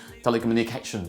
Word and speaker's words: telecommunications: how to be pronounced people say telecommunications they give us different stress patterns well but standard stress pattern listen up to it very very carefully i'm going to go slowly okay let's go okay the graph again the graph of movement again stress bottom let's go shoot telecommunications telecommunications telecommunications that is a stress pattern for that word okay let's